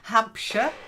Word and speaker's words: Hampshire: goodness sake okay then Hampshire remember sh not sh ham that's it and skin skin try